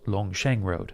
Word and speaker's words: Longcheng Road: It's actually pronounced Longsheng Road.